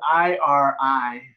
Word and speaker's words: irimi: It's you roll the R, but I can't roll the R today because I've got a canker sore. It's spelled I-R-I-M-I. And how do you say it? And you would roll the R, because the R is not really pronounced in Japanese the way we pronounce it.